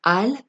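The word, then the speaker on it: אל: elle veut dire dieu lorsqu on le prononce al c'est une négation qui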